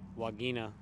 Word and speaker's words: vagina: Latin I do not wagina wagina V is pronounced as a w in Latin oh it's a vagina